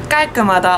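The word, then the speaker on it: 깔끔하다: Man merkt schon, dass das G an diesem Doppel-Gs etwas sehr kurz und prägnant ausgesprochen wird. Als Vergleichwort habe ich dann das Wort Kada, das einfach gehen heißt auf Koreanisch, der Infinitiv. Vielleicht merkt ihr da schon den Unterschied zwischen Galgemada und Kada. Das eine wird Ga und das andere Ka ausgesprochen.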